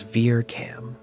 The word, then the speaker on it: VIRCAM: By using Vista's infrared camera, which is known as Ver Cam, V I R C A M, the astronomical